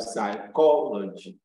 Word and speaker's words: psychology: y and a l you place the stress on this little salt from the end at least from the end you can three syllables backwards from the end you count one two three backward that third syllable from the end is what is stress so we have democracy